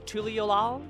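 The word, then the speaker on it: Tuliyollal: So in Japanese it's pronounced, or in English it's Tuliolal.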